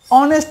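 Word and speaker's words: honest: বলি যে আই অ্যাম অনেস্ট student তাহলে অনেস্টে কি হবে এইচ ও এন ই এস টি অনেস্ট তাহলে এটা ও থেকে উচ্চারণ করি অনেস্টে ও থেকে উচ্চারণ করি হনেস্ট বলি না আর যদি গায়ের জোরে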